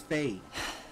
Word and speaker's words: Faye: I don't want to say her name wrong. Although they just said it. Is it Faye? Yeah, it's Faye.